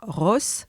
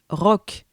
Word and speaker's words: roc: Par exemple, ce mot ne se prononce pas Ross, mais rock.